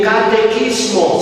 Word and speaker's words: catecismo: Empezamos con la Biblia y un catequismo. ¿Saben qué es? ¿Saben ustedes que es la palabra, verdad? Catequismo, así pronuncia. catecismo.